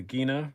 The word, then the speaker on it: Gina: The Gina, which is how you pronounce it, by the way. I called them when I asked about getting one, and that's what they said.